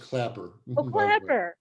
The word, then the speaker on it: Klaper: right are there any other questions for dr claiper the last thing is pronounced clapper i always get that wrong they know it's